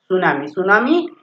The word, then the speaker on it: tsunami: इसमें ध्यान दें टी हमारा साइलेंट है. सुनामी एक आपने न्यूज सुनी